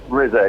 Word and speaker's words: RZA: RZA, yeah.